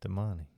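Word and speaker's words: Demany: Demani.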